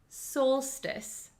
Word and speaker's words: solstice: it this word is pronounced Solstice soul soltice Solstice so what does solstice